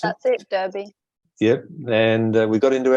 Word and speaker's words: Derby: Derby is it Derby is that how we pronounce it that's it Derby yep and we got into our waiters and